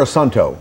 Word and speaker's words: Assunto: Is it Assunto or Assunto? Assunto. How do you guys pronounce it?